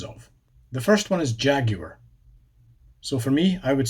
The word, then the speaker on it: Jaguar: So the emphasis shifts from the A at the start to the A on the end. So Jaguar. Jaguar. It's like a long A at the end instead.